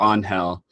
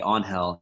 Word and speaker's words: Onhell: that yet so you're on hell oh oh and h-e-l-l-o an HDL which is the Spanish pronunciation of my real name so you call me on hell it's actually promised eats